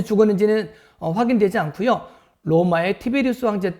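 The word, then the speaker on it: Tiberius: 보면은 딥 의료가 이 사람 말이 나오는데 우리나라 발음으로는 d 배려 라고 했지만 원래 발음은 티베리우스 가 되겠습니다 옥타비아누스 황제 두 번째 로 되어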